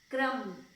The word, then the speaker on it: क्रम: इसको प्रोनाउंस करके देखो आप खुद से, क्रम, तो आधा क और पूरा र और म, तो क्रम।